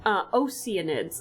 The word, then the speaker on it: Oceanids: Oh, I'm sorry, I mispronounced it. Oceanids, apparently is how it's pronounced.